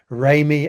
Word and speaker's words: Remy: pronunciation of my name, which is Remy as in do re do.